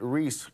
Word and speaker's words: Reese: But I got all of those names right, but Reese, who I've worked with for like a year, I right. got her name wrong. I called her Reith.